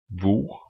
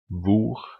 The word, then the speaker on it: hvor: Finally, silent H in words starting with HV.